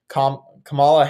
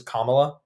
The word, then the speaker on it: Kamala: fought School opening when he came in there Camala Harris versus Kamala Kamala Kamala like okay you should pronounce people's names correctly but the fact you're